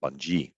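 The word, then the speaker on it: Bunge: archer daniel midland or bungie or bungie as it's pronounced um and you can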